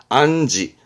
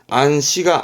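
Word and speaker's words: 暗示: 부분이 있습니다 응 암시하는 거죠요 시자 음독 중요합니다 발음은 지입니다 안지 안지 안시가 아닙니다 안지 안지 암호 암호 발음은 앙고 앙고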